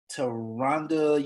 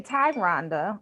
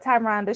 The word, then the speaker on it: Tyronda: a great interview with taronda yesterday yeah her name is actually ty rhonda uh with like a t-y you know how you